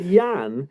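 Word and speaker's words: Jan: And he wasn't called Jurgen. He was called Yan.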